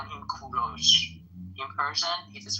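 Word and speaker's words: کوروش: English people call him Cyrus, but in Persian we call him Kuros. In Persian it is pronounced kudo but in English you would call them call him Cyrus.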